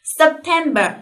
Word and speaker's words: September: 过去了。September，这里要注意的是，这里有个 P 是吧？Sep，哎，那这个 P 呢是没有发音的啊，它有这样一个口型，但是没有发出这个音来，所以 Sep。September 直接就读